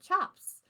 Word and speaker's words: tjap: c a p um but the C is actually um a CH sound um so um in